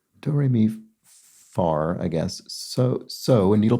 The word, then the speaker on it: fa: It is this but it's pronounced in an English accent that elides the R. Do, re, mi, far, I guess.